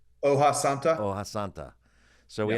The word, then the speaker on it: hoja santa: Okay, so think we had the farm raised yellowtail wrapped in osanta. Is that am I saying it correctly? Hoja Santa.